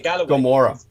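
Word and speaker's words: Gomorrah: Britain by the way the pronunciation is Gamora Gamora but on yes Galloway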